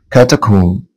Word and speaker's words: catacomb: catacomb. catacomb. catacomb. طبعا اللي هنا حبايبي silent.